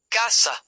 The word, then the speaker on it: cassa: Casa, house versus cassa, box, cash register. Double s changes the word.